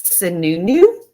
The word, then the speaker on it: Sununu: I believe it's Sununu. I believe that is the proper pronunciation.